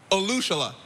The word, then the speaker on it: Olusola: And last but not least, Kevin Olushela. Olushela. Oh, that's smooth right there. I like the correct way to say it.